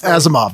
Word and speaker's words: Asimov: Alf is moody, because I can't pronounce the author's name. Asimov? Asimov, yeah.